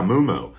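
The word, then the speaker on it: muumuu: And she all of a sudden appeared in a moo-moo. I'm like, what are you wearing? And she said, it's a moo-moo. And I said, a moo-moo? And she said, yeah, moo-moo.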